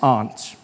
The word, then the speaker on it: aunt: For instance, I pronounce the opposite of uncle as aunt. I say my aunt. out here. You say my aunt, which to me is an insect, which made me look